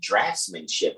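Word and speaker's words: draughtsmanship: the degree pertaining the draftsmanship or drugs depending on how you want to pronounce that d-r-a-u-g-h-t-s m-a-n-s-h-i-p rocksmanship or draftsmanship because the a-u-g-h can make the F sound like and laugh so with that being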